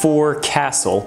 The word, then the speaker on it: forecastle: It's spelled as forecastle, but yes, it's pronounced as forecastle on the Titanic.